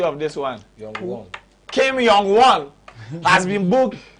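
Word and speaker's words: Young-gwon: Ima, what's the pronunciation of this one? Young-Won.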